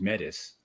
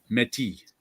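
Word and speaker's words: Métis: want to hear from these medics metis whatever i don't know how to say it in french metis yes it's silent even if it's plural okay yeah it comes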